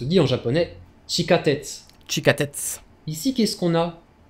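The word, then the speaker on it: 地下鉄: le métro se dit en japonais chica tête tchika tête ici qu'est ce qu'on a qui sait la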